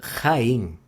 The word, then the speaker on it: Jaén: Tem um nome assim, se chama Jaén, né? Mas é com J, só que se pronuncia tipo R.